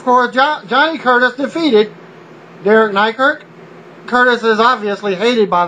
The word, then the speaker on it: Nykirk: WWE developmental talent Derek Nykirk. The announcer mispronounced his name is McKirk, or Mykirk. Well, Nykirk was suspended a